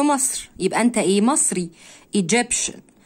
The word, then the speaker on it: Egyptian: Egyptian شن T-I-A-N هنا تنطق شن Egyptian.